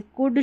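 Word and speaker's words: could: आगे बढ़ेंगे, यहाँ पर जो L है, कुड, शुड और वुड में, ये L साइलेंट है, नहीं तो अगर L नहीं होता तो कुल्ड, शुल्ड या वुल्ड होता, जो उच्चारण बिल्कुल गलत है।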